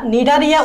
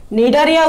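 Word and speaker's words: Cnidaria: যেমন পুয়ারের পি দিয়ে হচ্ছে পরিফেরা, পুয়ারের পি দিয়ে হচ্ছে পরিফেরা, সি দিয়ে হচ্ছে নিডারিয়া উচ্চারণ করার সময় সিটা সাইলেন্ট থাকে, কিন্তু সি দিয়েই তো শুরু হয় ইংরেজি ওয়ার্ডটা। নিডারিয়া উচ্চারণ করার সময় সিটা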